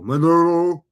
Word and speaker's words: Maduro: Maduro. He swallowed marbles to say his name. Again, it's Maduro.